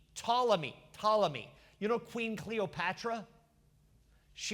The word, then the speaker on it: Ptolemy: It's spelled P-T, Ptolemy.